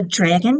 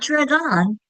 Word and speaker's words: dragon: It's not drag on, it's dragon. That second syllable gets weaker. the vowel gets lazy and it doesn't make its pure sound.